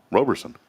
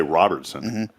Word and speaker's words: Roberson: how's that if they pronounce his last name correctly yeah yep Roberson yeah there's no tea some people say Robertson it's not it no it's robertonson when